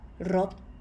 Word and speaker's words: รถ: But as these rot is a short vowel sound, it is high tone.